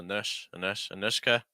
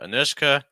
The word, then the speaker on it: Anushka: So Anushka, Anushka, probably stressing that second syllable, Anushka.